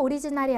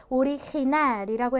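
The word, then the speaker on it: original: 그래서 얘 같은 경우에도 오리지널이 아니라 오리히날이라고 해주셔야지 정확한 발음이 되는 거고요.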